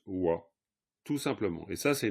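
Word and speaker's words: བ: Voilà, donc si cette lettre pas est à la fin d'un mot, eh bien elle se prononce wa, tout simplement.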